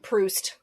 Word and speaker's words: Proust: There is a French philosopher and writer named Marcel Proust. Mhm. Proust, if you want to use the English pronunciation.